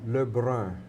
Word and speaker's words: Le Brun: How did you pronounce that? Le Brun, Le Brun.